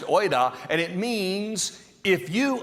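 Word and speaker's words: οἶδα: See, the word used here in the Greek is a word, it's pronounced oida, and it means if you understood.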